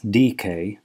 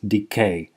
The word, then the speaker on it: decay: mispronounce the word decay i pronounce it incorrectly as dk as many people do and i'm very sorry about that so this is just a notice for you to understand that it should be pronounced correctly as decay look here decay decay